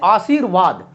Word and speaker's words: आशीर्वाद: यह अशुद्ध है और यह शुद्ध है, क्योंकि यह र जहां पर चढ़ता है, जिस वर्ण पर चढ़ता है उससे पूर्व में अर्थात पहले में उसका उच्चारण होता है। जैसे आशीर्वाद, तो र यहां हुआ